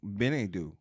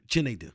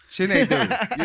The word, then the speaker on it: Chinedu: Well, in Africa, you're Benedu. Chinedu. Chinedu. You know, I said it wrong.